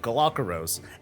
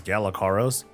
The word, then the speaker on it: Galakeros: was called ashes of galakeros and i pronounced it as galacaros and it didn't really occur to me that this was supposed to be a play on the galapagos islands hey fancy that that's